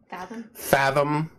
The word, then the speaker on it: Fathom: Fathom. Almost like, I'll say Latham, but not. Fat Home. Fathom. That's how I pronounce Fat Home.